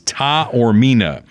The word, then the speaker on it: Taormina: So he gave me a pronunciation guide. It is Taormina.